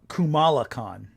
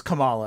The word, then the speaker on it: Kamala: I once accidentally kept calling her uh Kumala. That's fair. Kamala. I think it's Kamala, I think, is how you say it.